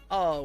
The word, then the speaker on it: eau: don't worry about it french for water is just pronounced oh it's eau yes how do you